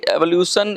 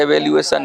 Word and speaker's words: evaluation: Made in third party एवोल्यूशन इन द EPS through the request of proposal. देखिए pronunciation में कुछ गड़बड़ हो सकती है, एवोल्यूशन नहीं है, इवेल्यूएशन है।